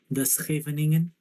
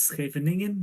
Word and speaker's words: Scheveningen: But yeah, I have heard the joke about you can tell where a person is from by the way they pronounce this word. If it's Scheveningen, then they're Dutch. It's Scheveningen, they are German.